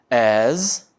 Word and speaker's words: as: As mais adjetivo mais as. A pronúncia é como se fosse um Z no final, OK?